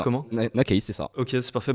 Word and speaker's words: Nakeyz: Ça se prononce comment? Nakaze, c'est ça.